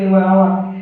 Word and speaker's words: hour: Next, the car is running at 60 km dash hour, এখানে আমাদের same আওয়ার আছে এই তো আওয়ার, আর আওয়ার প্রনাউন্স করতে সময় এইচটা সাইলেন্ট হয়ে যায়, আর যদি এইচ যদি সাইলেন্ট হয় তাহলে আর্টিকেল ইউজ করা হয় এম ইউজ করব, ঠিক আছে।